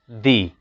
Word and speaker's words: the: use thee before vowel sound we have to pronounce it D the Apple but when you see the before